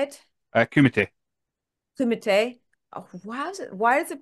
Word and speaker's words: Kumite: Kumite. Kumite. Oh, why is it, pronounced like that?